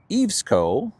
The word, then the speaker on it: EVESCO: Next, a company pronounced Evesco, E-V-E-S-C-O, which I've never heard of before, posted into the social, and I picked it up.